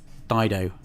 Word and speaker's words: Dido: Dido.